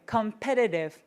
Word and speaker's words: competitive: 경쟁사회, competitive. 다시 competitive. One more time. competitive 하시면 돼요. 그래서 T 발음이 D 발음이랑 약간 짝꿍이라서 중간에 저렇게 T가 끼어 있으면 제가 D 발음이 난다라고 확인하시면 되겠습니다.